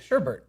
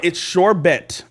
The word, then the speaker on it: sherbet: oh no she's right it's sherbet bet T sherbet and I've always said sherbet I like that no no but I feel like it's pronounced Bert but it's bed yeah I know the